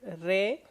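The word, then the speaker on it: ره: Re. So the Persian R is re, a little bit like Italian R, less dramatic though.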